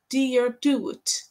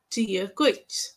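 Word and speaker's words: Dia duit: Version one is pronounced like dear do it, and the other pronunciation sounds like dear guit.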